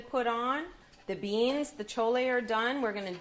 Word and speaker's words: chole: So that's why I call this dish chole, because if you ever went to an Indian restaurant and you saw that it said chole on it, that's what this is going to be. And that's spelled It's CHOLAY. chole.